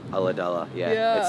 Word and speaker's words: Ulladulla: So you were born in, how do you say it, Ulladulla? Ulladulla, yeah.